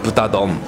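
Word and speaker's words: 豚丼: Japanese pronunciation is butadon. Butadon. It sounds good. Sam. Probably you know, English speakers say butadon.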